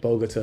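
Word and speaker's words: Bogotá: the capital Bogota that's how you say it Bogota around like 7 A.M the embassy doesn't open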